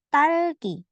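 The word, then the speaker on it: 딸기: Selanjutnya ada ta. Riel di bawah jadi L. Jadi tal. Bacanya tal. Dan ki. Jadi talki. Talki.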